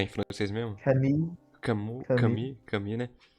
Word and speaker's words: Camus: Ou se vocês preferirem em francês, é Camus. Eu acho essa pronúncia muito engraçada. Comi.